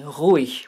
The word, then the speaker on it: ruhig: Even German G is sometimes pronounced this way, like in ruhig, which means quiet or peaceful.